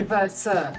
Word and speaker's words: WC: it must exist yeah but we say ver but you spell it WC now you spell it VC it's a foreign word